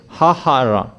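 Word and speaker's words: ההרה: So there are double hey here, hahara. H-A-H-A-R-A-H, and they write it as hey, hey, re, hey. It's like that how they pronounced it. It's like that, but they improved it and they pronounced it as hahara.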